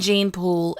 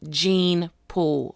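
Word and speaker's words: Jeyne Poole: it does happen to gene pool or Jane pool how do you say it Jane or gene let's say Jane pool je y & E Jane Jane Jane so Jane pool is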